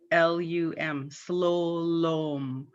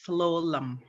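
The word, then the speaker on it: slulum: spelling on that the the u's are pronounced as o and it's spelled with two u's s-l-u-l-u-m slo-lom but everybody pronounces it slolum so it should be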